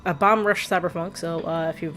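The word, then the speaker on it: Bomb Rush Cyberfunk: Uh next Wednesday we will start also um Bomb Rush Cyberpunk. There we go. I always keep mispronouncing that name. Bomb Bomb Rush Cyber Funk.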